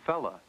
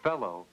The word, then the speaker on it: fellow: said I know fella saying fella instead of fellow is incorrectly changing sounds within words it's like saying kin